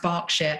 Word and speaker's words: Berkshire: It's spelt Berkshire, but it's pronounced Berkshire.